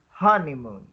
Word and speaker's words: honeymoon: why mm-hmm okay thanks listen to the stress on honeymoon so there are three syllables in honeymoon way with the stress on the first syllable on on with the